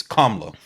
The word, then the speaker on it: Kamala: So, as I understand it, the closest Indian pronunciation, which I'm not going to do the intonation correctly, but it's Kamala.